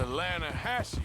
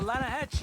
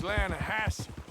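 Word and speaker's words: Lannahechee: no no the the lahache it runs right near here yeah but it's pronounced lanahassee why is everything in English said differently than it's written make us feel stupid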